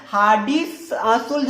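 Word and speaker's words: Hardy-Schulze: सा रूल है बताइए, हार्डी-सुल्ज रूल बोलते हैं, बट स्पेलिंग को थोड़ा ध्यान रखिएगा, SCH ULZE बोलते हैं, ठीक है। ये क्या है, हार्डी-शुल्ज रूल इसको बोलते हैं, ठीक है।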